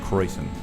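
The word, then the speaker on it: Kräusen: The internet told me that that's pronounced Kreusen. Krausen, whatever.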